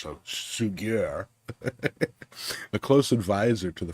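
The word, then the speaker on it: Suger: Fast forward to the 12th century, when Abbot, it looks like sugar, but I'm sure it's pronounced in French, so Sugier, a close advisor to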